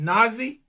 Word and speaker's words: Nahzzy: Is it Nahzzy? Yes, it is. You did pronounce it correctly.